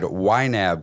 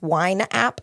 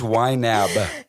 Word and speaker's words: YNAB: understand what YNAB is y na a b you pronounced that and articulated that very well most people think it's wine app what is this wine